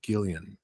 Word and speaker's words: Guillen: Guillen. Okay. Yes, sir. My mouth got. If you want to sound even more American about it, you could say Guillen. It's okay too.